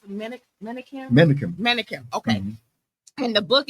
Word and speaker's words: Menakem: How do you pronounce it? Menakem.